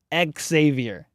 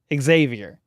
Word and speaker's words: Xavier: saying it wrong LOL it's pronounced with an X Xavier Xavier that's from an immediate